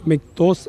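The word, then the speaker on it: Miktos: എന്ന അർത്ഥം വരുന്ന മിക്തോസ് എം ഐ കെ ടി ഒ എസ് എന്നാണ് സ്പെല്ലിംഗ് എങ്കിലും ഉച്ചാരണം വരുന്നത് മിക്തോസ് എന്നാണ് പിന്നെ 2020 ജൂലൈ 29 നാണ്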